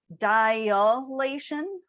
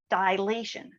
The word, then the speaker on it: dilation: what it is but a lot of people pronounce this as dilation and really when we're talking about geometry we don't have that extra a in there it's just dilation so keep that in